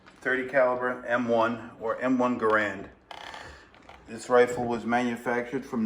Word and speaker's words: Garand: named after him and it should have been called a garand but it was always mispronounced and it just became a grand it was the first